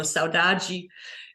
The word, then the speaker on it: saudade: The word saudade, or pronounced in European Portuguese, or saudade in Brazilian Portuguese, is a very unique word that is hard to translate.